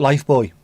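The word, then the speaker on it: Lifebuoy: Even though they pronounce it Life Boy, because they know it's Life Boy.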